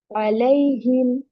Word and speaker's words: عليهم: अलैहिम, lay not li, ये ले, अलैहिम यौमी, it's यौ not यौमी, यौमी, यौमी युहयी, युहयी, युहयी युमीतु, युमीतु, युमीतु।